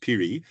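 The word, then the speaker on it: Phiri: Ray Piri, spelled P H I R I, pronounced Piri, uh from a local band called Stella, which means train as in seam train.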